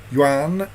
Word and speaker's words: Yuan: Yuan is one syllable.